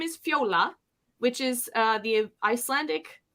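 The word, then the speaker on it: Fjóla: my mom's name is Fiola which is uh the Icelandic word for Violet and but it's spelled f-j-o-l-a um the J is like a y sound in our language so I think it's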